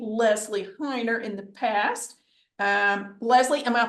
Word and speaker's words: Lezlie: Lezlie, am I pronouncing it correctly?